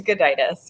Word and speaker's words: Gudaitis: Please educate us on how to pronounce that. It is Gudaitis, yeah.